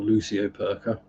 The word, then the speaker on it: lucioperca: So it was called a pike perch, which is why it's a Cystedian lucioperca, or lucioperca, if you pronounce it correctly.